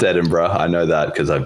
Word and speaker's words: Edinburgh: Anyway, it's pronounced Edinburgh.